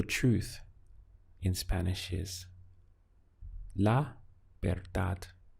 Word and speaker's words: verdad: To say the truth in Spanish is la verdad. We have this B sound for a V in Spanish, remember? So it's ver, sounding like that, ver, and then dad.